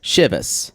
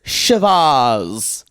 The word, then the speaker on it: Chivas: has been pronounced wrong I've always heard it as shivas shivas maybe that is that's for me working in bartending maybe it's because of in the South or Michigan Heather says shavas cript rhymes with Shiraz y'all I don't know come at me maybe I've been saying ship us my whole life I don't know I